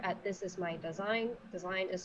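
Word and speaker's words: Dasein: me on twitter at this is my design design is spelled capital d a s e i n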